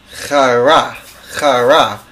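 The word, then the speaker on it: χήρα: It's chara.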